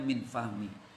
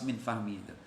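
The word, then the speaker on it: من فضل: al-maliki haqqun Idol Hai kalau tadi saya bacanya mint Fahmi tapi yang benar yang pas minfadli jadi termasuk lagi maknanya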